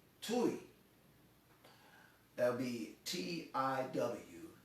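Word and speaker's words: Tiw: odin's son is called tui that'll be t-i-w that's the way we would spell it in english but you know it's pronounced tui um that's where we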